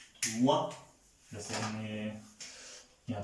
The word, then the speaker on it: moi: ओ आई is pronounce like always वा, वा, मुआ.